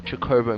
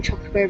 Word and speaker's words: Chocobo: doesn't let you up there without doing the Chocobo minigame, which is another one of the annoying mandatory minigames of FF7, and there are quite a lot. You spend an inordinate amount of time Chocobo racing in this game if you want to